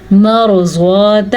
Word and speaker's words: مرضات: بھی ادا کرنا ہے۔ مرضات ازواجک، रॉ को पुर पढ़ना है क्योंकि रॉ साकिन से पहले हर्फ पे ज़बर है।